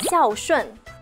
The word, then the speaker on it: 孝順: Berbakti bahasa Mandarinnya xiao shun.